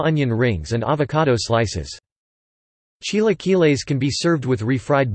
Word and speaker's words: chilaquiles: Chilaquiles, Spanish pronunciation, Chilaquiles, from the Nahuatl word chilaquilil, T-I-L-A-Q-I-L-I-T, is a traditional Mexican dish.